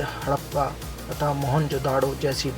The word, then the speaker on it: मोहनजोदड़ो: मोहनजोदाड़ो शब्द का सही उच्चारण है मोहनजोदड़ो।